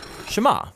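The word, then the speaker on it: שמע: is hear or listen which in Hebrew is pronounced Shama that's where the prayer gets its name now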